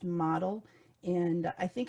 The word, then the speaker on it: Modl: a model system and it's modl but pronounced model and i think it's